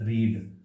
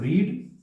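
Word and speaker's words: read: अब जब पहले वाली को पढ़ेंगे, इसको पढ़ेंगे रीड, लेकिन दूसरे वाली को जैसे ही पढ़ेंगे इसको पढ़ेंगे रेड, और इसको भी हम पढ़ेंगे रेड, ना के रीड, लेकिन स्पेलिंग तीनों की सेम है।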